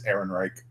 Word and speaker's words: Ehrenreich: same so obviously from you at least spelled phonetically it's Ehrenreich okay I don't remember it starts with an